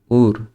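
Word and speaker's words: Uhr: উর, এই যে এইচের আগে কি আছে, ভাওয়েল আছে, ইউ আছে, এই জন্য এইচটা উচ্চারণ হবে না।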